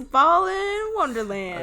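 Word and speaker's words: Balan Wonderland: It's Ballin Wonderland.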